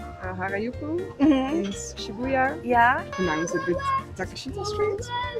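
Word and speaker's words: Takeshita: With Takashita Street. Takista.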